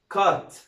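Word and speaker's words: caught: طيب بعد كده سي اي يو جي اتش تي يبقى اسمها كات، اسمها ايه؟ كات.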